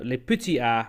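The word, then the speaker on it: Les Petits As: I don't know whether it's called Les A or Les A. Les Petits A, maybe, is the correct French pronunciation. That's the one.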